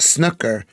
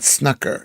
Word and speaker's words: snooker: Anyway, it's pronounced snooker, not snucker, schnucker, schnucker, snooker, snooker, like that, snooker, snooker.